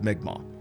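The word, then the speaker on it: Mi'kmaq: the migma it's spelled m-i-m-i apostrophe k-m-a-q it's pronounced migma and uh where it would get weird and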